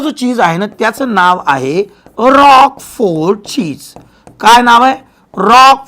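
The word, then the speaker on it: Roquefort: आहे त्याचं नाव आहे रॉक फोड चीज काय नाव आहे रॉक फोड चीज नाव लक्षात आलं नाव रॉक पण स्पेलिंग वेगळी लक्षात ठेवा आता याचा मायक्रोब बघू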